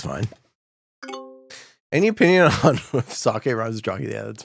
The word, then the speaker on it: sake: saying and even what sake rhymes with jockey sake jockey um I guess